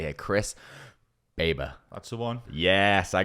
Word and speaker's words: Chris Baber: are here with Chris now I had to pronounce his name correctly here Chris babber that's the one yes I got it correct